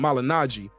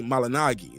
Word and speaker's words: Malignaggi: for the people saying I'm saying Paula malinagi instead of malignaggi he said his name is supposed to be pronounced that way when I used to follow and I used to watch your show it's supposed to be malinagi that's the way it's